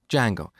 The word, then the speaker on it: Django: called D Jango so it's spelled with a silent D and it's pronounce Jango it's a web framework